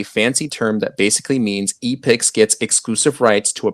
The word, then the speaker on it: Epix: that they're also buying epics i think i'm saying that right because it's spelled e-p-i-x uh and i'm just